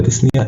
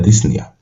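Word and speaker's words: dyspnea: ديسنيا اللي هو صعوبة التنفس، يبقى ديسنيا البي ما بتتنطقش، يبقى ديسنيا.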